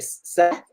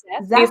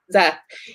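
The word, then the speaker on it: Szeth: Is the sword that is, how do you pronounce his name? Is it Sept? Sept? Zeth, yeah. Zeth.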